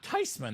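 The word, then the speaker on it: Theismann: know what he said oh yeah tysman that's a German name how could everyone get it wrong all this time wow uh so lo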